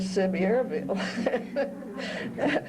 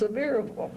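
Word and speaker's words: Sevierville: a bus ticket to well I called it SE Arville but I found out it's pronounced severable so uh when I got to seille I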